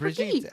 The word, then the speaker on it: Brigitte: So just Brigitte. FYI to everybody, Brigitte. Just the I same way know Jeff that said it. I know that we have mispronounced her like a million times on the show. We'll try to be better about it. So now you know, Brigitte.